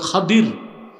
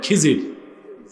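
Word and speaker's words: خضر: আর উনার মন্ত্রী ছিল হযরত খাদির। কি নাম? আপনারা ভুল বলেন খিজির উচ্চারণটা হচ্ছে বিফাতল খদির আমরা বলি খিজির উচ্চারণগুলো ঠিক করবো আমরা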